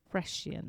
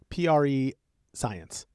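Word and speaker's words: prescience: Precience. Precience. P re science. It looks like pre-science, but it's not.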